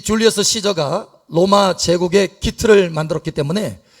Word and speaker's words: 율리우스 카이사르: 근데 이 줄리어스 시저가 사실은 그 이름이 영어로는 줄리어스 시저예요. 그런데 라틴 말로는 발음이 달라요. 율리우스 카이사르예요. 율리우스 카이사르. 그래서 이 줄리어스 시저가 로마 제국의 기틀을 만들었기 때문에 그 다음에 황제들이 일어날 때마다 이름을 카이사르를 따서 씁니다.